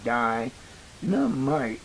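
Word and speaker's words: Dienamite: And if you notice, it's spelled D I E N A M I T E. Die Nite.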